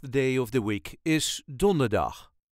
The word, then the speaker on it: donderdag: Of The Week is donderdag emphasis on donder donderdag donderdag Don der dag Donderdag Ik moet donderdag naar de tandarts I have to go to the dentist on Thursday donderdag then vrijdag slight emphasis